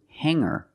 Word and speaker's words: hanger: these words with erer I don't pronounce the G sound it's just the nasal M linked together with the r together hanger hanger there's no G sound I cannot say hanger